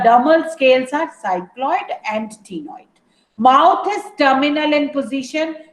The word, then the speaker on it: ctenoid: Here the exoskeleton is made up of cycloid and ctenoid scales. C is silent here.